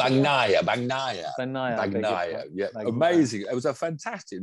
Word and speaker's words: Bagnaia: Is that how you pronounce Bagnaia, it? Bagnaia.